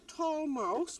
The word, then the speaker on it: Talmouse: And that is spelt like tall mouse with only 1 L.